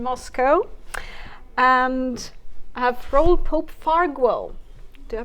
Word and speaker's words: Farguell: The correct pronunciation would be Farguell, but it's hard to pronounce. Yeah, it's Spanish? It's actually Catalan.